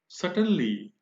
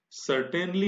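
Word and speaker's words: certainly: सटनली, सटनली adverb है। आप देखिए यहां पर इसका प्रोनाउंसिएशन सर्टेनली नहीं है, सटनली। आर यहां पर साइलेंट है और प्रोनाउंसिएशन है सटनली, अवश्य, निश्चित रूप से।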